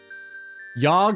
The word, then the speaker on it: Yog: Yog rhymes with log.